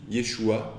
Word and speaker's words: Yeshu: Galilée, notamment en araméen, les A finaux, dans un certain nombre de cas, n'étaient plus prononcés. Ainsi, Yeshua devient tout simplement Yeshu.